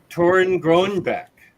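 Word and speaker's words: Torunn Grønbekk: do you say her name just a sec tauren groenbeck nice I've heard mixed things oh yeah okay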